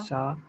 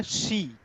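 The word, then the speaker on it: し: ये सी नहीं होगा, ये होगा शी, एस एच आई। शी। सा के बाद सी नहीं आएगा, खाली शी, उसका प्रोनाउंसिएशन के हिसाब से वो एक्सेप्शन है, अलग है।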